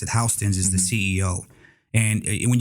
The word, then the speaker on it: Houston: H or spell Houston but he say he pronounced it houseon is the CEO and when you think about